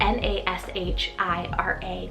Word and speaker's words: Nashira: on the girls side i have the name nishira it's called n-a-s-h-i-r-a nashira i love the nickname nash or nashee